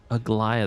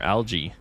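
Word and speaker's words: Aglaea: ignoring what she said AIA that's how you say I've been wondering how to say this I keep calling her algae like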